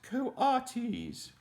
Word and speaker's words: coatis: pigs or raccoony dogs these are quwata you see mrs. Brisbane said reading from the letter pronounced coatis the coatis looked weird